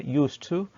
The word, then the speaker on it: used to: transcription the kitab software used to i don't mention the d okay i don't pronounce the d but used to okay